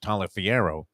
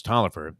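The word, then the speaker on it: Taliaferro: spelled and it looked like it should be pronounced tala Fierro but it was Toliver and uh one of my favorite all-time quarterbacks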